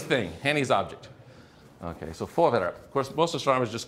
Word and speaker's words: Voorwerp: Can anyone pronounce that? Voorwerp.